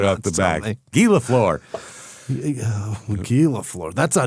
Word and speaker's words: Lafleur: No, but it has what looks like an English word pronounced in a French way, which is hilarious. All right. Right off the back. Guy Lafleur.